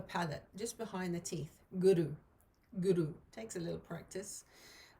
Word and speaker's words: guru: west to teacher guru the way we pronounce it is a little bit different and we try and roll the r slightly so guru rather than guru i don't know guru so roll in the r as if you're um